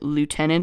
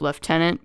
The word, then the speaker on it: lieutenant: in the European fashion it's sometimes weird to me to hear British accents saying lieutenant instead of leftenant because obviously leftenant is the way that most people in Europe would pronounce it anyway negative the merchant